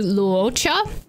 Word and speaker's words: Luocha: your help so she says it closer to luocha but it's not cha like it's still two syllables it's not luocha which